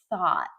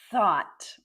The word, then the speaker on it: thought: No, it's thought. Thought. So, this this word always confuses people. First, be careful with the th thought.